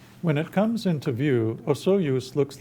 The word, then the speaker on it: Osoyoos: When it comes into view, Osoyoos looks like paradise. The name, pronounced Soyoos in the local Okanagan language, means narrowing of the waters.